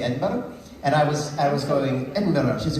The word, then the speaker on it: Edinburgh: In Scotland, we have rhotic R's.